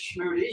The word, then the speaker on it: Schmude: Is it Schmoody or Smooth? It is Schmude.